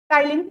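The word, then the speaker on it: ptyalin: टाइलिन हम बोलेंगे, जो टाइलिन होता है, टाइलिन, इसको इंग्लिश में PTYLIN, टाइलिन। पी is silent, P जो रहता है वो क्या रहता है, साइलेंट रहता है।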